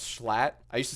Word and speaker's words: Schlatt: Am I saying Schlot wrong now? It's Schlatt.